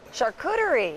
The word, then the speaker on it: charcuterie: notch he started his own i'm going to mispronounce this renny charcuterie yeah you got it charcuterie in the hotel's kitchen and chef rennie joins